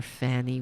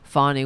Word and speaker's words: Fani: Like immature children, Republicans pledge to intentionally mispronounce Fani Willis as Fanny. And here is Charlie Kirk. Impressive piece of work by Fanny Willis. Oh, I'm sorry. It's Fani Willis.